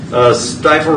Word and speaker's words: Stifel: that we going to see Stifel Is it pronounced Stifel? Uh Stifel.